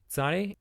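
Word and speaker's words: צדי: Next we have Tzade. Tzade is pronounced T-S, T, and again, it's a Kamnifatz letter.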